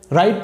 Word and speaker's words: write: এখন দেখেন রাইট শব্দটার বানান কিন্তু এই পর্যন্তই হয়ে গেছে, RITE, রাইট। তাহলে ডব্লিউ কোথায় গেল? ডব্লিউ আছে কিন্তু ডব্লিউর উচ্চারণ হয়নি। ওকে, তাহলে এই শব্দটির বানান হচ্ছে WRITE, কিন্তু উচ্চারণ হচ্ছে কি?